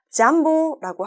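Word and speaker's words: jambo: 만약에 스왈리어에 관심 있으신 분들이시라면 한 번쯤 냠보라는 인사말을 들어보셨을 거예요. 발음상 잠보라고 할 수도 있죠. 냠보 혹은 잠보인데요.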